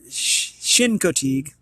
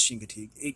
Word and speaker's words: Chincoteague: oh here we go I am pronouncing it wrong sorry guys / Shin Co Teague Chincoteague pronounced Chincoteague it has pronunciation thankfully